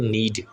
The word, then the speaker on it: knead: आटा गूंदने के लिए जो वर्ब यूज़ होता है वो होता है नीड, KNEAD, इसमें के साइलेंट होता है, इसको नीड पढ़ते हैं।